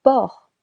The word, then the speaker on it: porc: Le meat du porc.